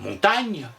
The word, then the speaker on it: Montaigne: le prononcer n y d'ailleurs l'auteur montaigne doit l'articulation de son nom à la manière dont on écrivait montagne est d'ailleurs lui quand vous lui demandiez comment il s'appelait il disait moi bah montagne il en ira de